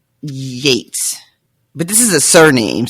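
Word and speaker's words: Yeats: your vocabulary that way and Yates but this is a surname so it's a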